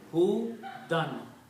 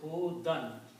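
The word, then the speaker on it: هدى: And that's how it is written. Hudan. Ya is written but it's not read. So it is Hudan.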